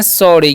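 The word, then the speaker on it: sorry: तो लिखा यहां पर एस O double R वाई तो इसे हम लोग पढ़ते हैं सॉरी क्या पढ़ते हैं जी सॉरी पढ़ते हैं क्योंकि इस कान स ओ कान यहां पर औ होता है इसलिए हम ओ उतरते हैं ठीक है और सोरी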